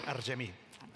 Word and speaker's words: Argemi: And now we call Argemi. I hope I pronounce it right. You pronounce it beautifully, but it's really Argemi.